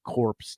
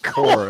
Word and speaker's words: corps: that will address the corpse today. Core. My God, corpse would be a dead body. How about just core? Yeah, a core. The P is silent.